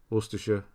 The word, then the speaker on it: Worcestershire: Yeah, Worcestershire. Worcestershire. So SH. Not Shire, just the SH.